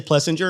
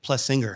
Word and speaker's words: Plessinger: Everyone murders his last name, including me. I always say Plessinger, and my wife's always like Plessinger.